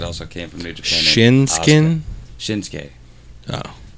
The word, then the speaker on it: Shinsuke: Shinsuke. Shinsuke. Oh. Even though it's spelled Shinsuke, it's Shinsuke. Just like Asuka, it's spelled Asuki or Asuka, but it's Asuka.